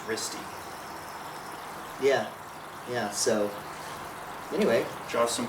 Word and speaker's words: Riste: I thought it was Riest, but it's Risty.